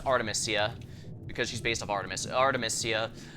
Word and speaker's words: Artemisia: from timia Alasia or how you pronounce it no oh it's Artemisia because she's based off